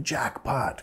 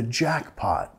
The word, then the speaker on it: jackpot: Puedes decir, wow, you hit the jackpot. Nota, vamos a acentuar la primera sílaba. Jackpot, jackpot.